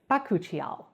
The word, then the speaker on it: bakuchiol: sound bites and yes that is how you say it it's bakuchiol so have you heard